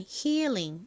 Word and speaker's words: healing: 참고로 한국식으로론 힐링 이렇게 읽지만 실제 발음은 healing. 이렇게이 부분이 길게 발음됩니다.